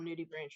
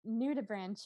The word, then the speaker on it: nudibranch: want anything to happen to his cute little nudie branch ring or himself. Are we really going to commit to pronouncing it nudie branch ring?